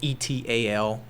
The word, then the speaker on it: et al.: that say estate of, or ETAL, et al. Is really what it's pronounced.